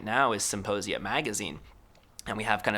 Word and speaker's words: Symposia: you go to symposia symposia by the way is still with a p silent P like in psychedelic you know cuz we're